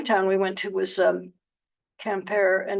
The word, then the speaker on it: Quimper: The other town we went to was Quimper, and it's or Quimper. It's not, if it were French, you wouldn't pronounce the R, but it's Breton or Breton influenced, and you do pronounce the R.